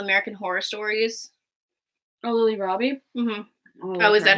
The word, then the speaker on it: Rabe: do have a normal cast list Oh Lily rabe was a Helena I thought she was really good as Helena she was in a lot of the American horror stories no Lily Robbie mm-hmm oh is that how you pronounce her